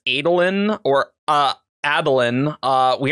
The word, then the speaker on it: Adolin: the graphic audio and they all pronounce Adeline with the heart the long a and it I just can't make my brain do it yeah even though I know that's probably technically more correct in the fandom it it's